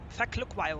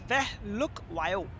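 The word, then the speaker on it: Phehlukwayo: Feklukwayo, I think it's Feklukwayo. Wait. If I'm seeing his name, it can be pronounced as Fehlukwayo. Fehlukwayo. So Feklukwayo, the commentator is saying as Feklukwayo, but I think it's Fehlukwayo.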